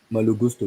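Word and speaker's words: Malo Gusto: one kid called who had how do you pronounce his first name Gusto Mal Gusto yes the reason why Gusto people are talking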